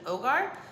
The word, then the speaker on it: hogar: on my Spanish and H is silent in Spanish so this is actually Ogar if it is in